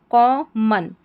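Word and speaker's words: common: हैज़ वन वन सी ओ क और double M ओ एन मन करके इसका उच्चारण होगा। मॉन करके नहीं पढ़ेंगे। को मन यहां पर जो ओ एन आ रखा है यानी इस ओ का उच्चारण अ होता है।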